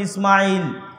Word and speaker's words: ইসমাইল: আপনি আজও যদি তাওরাত, জবুর, ইঞ্জিল খুলে পড়েন এখনো তাহলে এখনো ইসমাইল আলাইহিস সালাতুওস সালামের নাম পাবেন। আমরা সিন হালকা করে উচ্চারণ করে ইসমাইল।